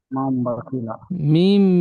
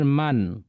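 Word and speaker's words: مَنْ: এখানে নুন সাকিন এসছে উচ্চারণটি হতো মিম নুন জবার মান এই মান হতো কিন্তু নুন সাকিনের পরের অক্ষরটি বা এসেছে এই নুন সাকিনের পরে বা আসার কারণে এখানে মিম এর দ্বারা পরিবর্তন করে পড়তে বলছে তাহলে মিম মিম জবার মাম হবে নুন সাকিনের আওয়াজটি আর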